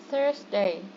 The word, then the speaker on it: Thursday: Be careful with the pronunciation of this day because it's not T, it's Thursday. Could you please try it again, Queen? Thursday. Yes, it's like a smooth, okay?